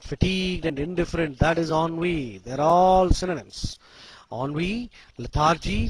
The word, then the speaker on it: ennui: E-N-N-U-I. Ennui means boredom, weariness, and dissatisfaction resulting from inactivity or lack of interest. Ennui. E-N-N-U-I. Pronunciation is ennui. Spelling is E-N-N-U-I. Pronunciation is ennui. It's a French word and it means boredom,